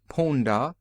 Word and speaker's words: Punda: Every one is pronounced exactly as it is spelled, and the accent is always on the last syllable but one, as Punda, the donkey, Hamdani, etc.